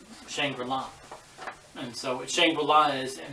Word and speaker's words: Shangri-La: and all that stuff, when you're saying Shangri-La or Shangri-La, I thought he was mispronouncing and kind of saying it so it would rhyme the words chandelier.